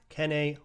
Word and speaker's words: Kene: So you got Kene Nwangwu, which, by the way, that's how his name is pronounced, Nwangwu, like honk shoe, which is what